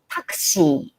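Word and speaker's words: タクシー: okay hi janet's taxi the pronunciation is a little bit different takshi takshi okay sentences first one is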